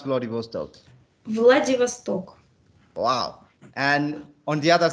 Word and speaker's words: Vladivostok: different two continents one side is near japan bloody vostok or whatever bloody hostile right how do you pronounce vladivostok vladivostok wow and on the other side most core